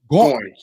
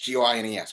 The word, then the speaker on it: Goines: You pronounce it first, so I don't jack it up. Goines, G-O-I-N-E-S, Goines. Thank you. I gave you a couple of extra syllables.